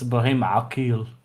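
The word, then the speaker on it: Ibrahim Aqil: continue, I need to tell Loner how to pronounce things in Arabic. It's Ibrahim Akil.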